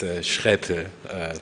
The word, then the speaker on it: Schreppel: I have one of these difficult German names nobody can actually pronounce, so don't mind. It's Schreppel, but very difficult.